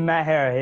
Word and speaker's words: Maher: Like, Maher, yeah.